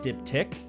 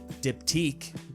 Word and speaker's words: diptych: how to pronounce it so far i've heard diptic diptique diptech diptitch and others so i put a quick poll up on twitter and diptic came out the winner although i could see